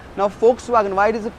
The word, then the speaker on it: Volkswagen: and not volkswagen miss the hence we say folks wagon and not volkswagen so v is pronounced s ha o fa o you can